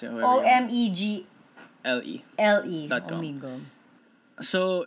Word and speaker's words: Omegle: Like, let's say, Omegle is a really dangerous place.